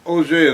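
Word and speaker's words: Auge: O'Jay is spelled A-U-G-E, is French.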